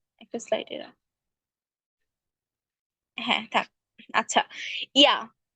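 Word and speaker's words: Ja: স্লাইডে হ্যাঁ থাক আচ্ছা ইয়া যে কে আমরা ইয়াতে হচ্ছে মানে উচ্চারণ করি কিন্তু হচ্ছে ইয়ট যার কারণে জি আর একে বলি এই জন্য এটা হচ্ছে ইয়া ইয়া মানে হচ্ছে ইয়েস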